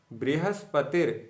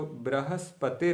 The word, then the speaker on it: बृहस्पतिर्: ध्यान दीजिएगा, बृहस्पतिर के स्थान पर कुछ लोगों का उच्चारण बृहस्पतिर हो सकता है। तो ये जो बृहस्पतिर है ये अशुद्ध है, ब्रा नहीं है, ब्री है, ब्री। बृहस्पतिर, बृहस्पतिर, ना कि बृहस्पतिर। ब्रा नहीं है, ब्री है, ब्री। ब्रा जो है हलंत बा और रा के मेल से बनता है, जबकि ब्री हलंत बा